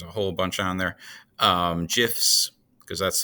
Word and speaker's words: GIF: GIFs, because that's the proper way you pronounce it, is GIF, not GIF.